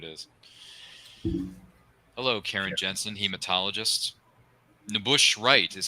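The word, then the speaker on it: N'Bushe Wright: know who it is hello Karen Jensen hematologist nush wri is how you pronounce her name if I'm not mistaken whatever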